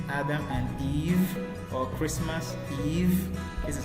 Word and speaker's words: Eve: making their e sound because e v e is sounds like what Eve Eve okay Eve like the name Adam and Eve or Christmas Eve this